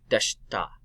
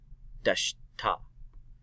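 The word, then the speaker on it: でした: Deshita. Deshita. The I is silent on that too.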